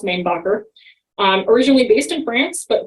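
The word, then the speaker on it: Mainbocher: Some people insist that it is pronounced Mainbacher, or more French, but it is actually pronounced Mainbacher.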